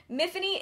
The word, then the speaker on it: Miffany: I want to say, Miffany is Welsh, but in the book, the character goes out of her way to say that Miffany rhymes with Tiffany, and it does become